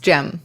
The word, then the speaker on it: Cem: yes and it's pronounced gem yes the c in turkish is pronounced like a g interesting yeah okay so it's a lot of people